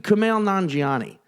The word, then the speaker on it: Kumail Nanjiani: like this next guy come now come new to knee it's like its phonetic it's a phonetic name ninja - ninja -